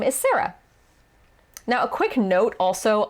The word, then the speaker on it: Sarah: So in American English, it is Sarah. The vowel is sa. And then the second vowel is So I think in Japanese, a closer pronunciation would be Sera, not Sa-ra.